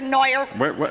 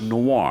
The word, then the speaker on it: Noir: Noah where's Debra ron has been taken into custody for retraining mr. Moyer so give me the serial number of your coffee maker mr. Knight the name is pronounced noir Oh okay give me